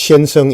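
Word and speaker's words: 先生: So sensei in Japanese is pronounced shenseng in Chinese.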